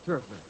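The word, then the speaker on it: Terfler: I will spell it T-E-R-F-L-E-R. It's always hard to remember, you know. I beg your pardon? T-E-R-F, turf, Turfler? L-E-R, Turfler. What did I say? Heffler or something like that. Well, that's the West Coast pronunciation.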